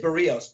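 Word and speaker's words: Berríos: And this year's a little more experienced Berrios, and it is Berrios, by the way. That's how he pronounces it.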